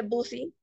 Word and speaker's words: busy: Entonces, como podemos ver, John is, esta palabra que se escribe busy, me da demasiada risa, se escribe busy, pero se pronuncia busy, busy.